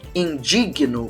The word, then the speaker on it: indigno: de alguma direto deixa o correto é eu impugno não se desenvolvendo não Augusta não eu impugno eu propugno eu e eu me indigno com a situação não se